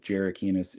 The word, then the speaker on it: Jerakinis: My last name is pronounced Jerakinis. It's Greek.